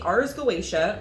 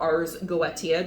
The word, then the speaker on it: Goetia: of Solomon, in which the Ars Goetia, or Ars Goetia, just depending on how you like to pronounce it, because people love to attack me on how I like to say it.